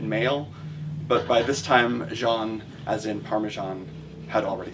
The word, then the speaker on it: Jean: and I calls her Jean as in denim but she went around pronouncing her name as if it were the last syllable in parmesan everyone at her high